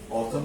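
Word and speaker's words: autumn: ফল অথবা অথম বলো অথম বানানটাও কঠিন দেখো অথম্যান অথম এন এখানে একটা এন হবে অথম আর এটার এডজেক্টিভ হচ্ছে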